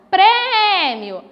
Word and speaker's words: prêmio: Na palavra prêmio, se eu não sei onde eu vou acentuar naquela palavra, eu chamo pela palavra, ó, prêmio. A sílaba tônica é a sílaba pré.